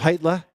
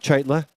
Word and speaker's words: Cheitla: The C is silent in his name. It's Heitla, not Cheitla.